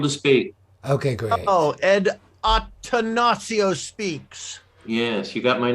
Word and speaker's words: Attansio: yes i'm able to speak okay oh ed octanacio speaks yes you got my name right yeah well it's because it's spelled there right there i have one like